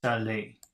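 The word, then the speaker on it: salé: row C Saleh that's s-a-l-e-r then s-a-l-e with an accent mark over it they all sound the same s-a-l-e-z-s-a-l-a-i-s they all sound the same Sally Sally Sally Philly that's l-e-r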